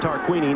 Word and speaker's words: Tarquini: I've been mispronouncing his name all day long. It is Tarquini.